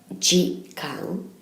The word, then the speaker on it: 時間: It's pronounced jikan, and we're going to have a look at each individual kanji to learn how to write it.